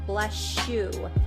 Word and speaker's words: bless you: In general American fast casual English, we pronounce it more like blessue.